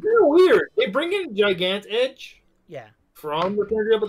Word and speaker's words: Gigant Edge: I hate to be that guy, Brian, but Gigant Edge? Well, how is it actually pronounced? Gigant. I pronounce it Gigant. Because Giga.